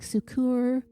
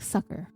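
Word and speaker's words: succor: r I was like sukur suur I looked it up and it's just like sucker that's it like the candy sucker and it means to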